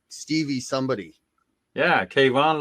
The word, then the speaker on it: Kayvon: Yeah, Kayvon, like Stevie Ray Vaughan.